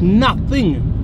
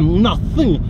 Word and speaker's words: nothing: Ben&Jerry's Got nothing on this. That's how you say it "Nothing" "Nothing Don't forget the emphasis on TH when you say "Nothing" You need the tongue "Nothing" You're good at English aren't you?